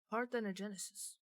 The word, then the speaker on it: parthenogenesis: Parthenogenesis.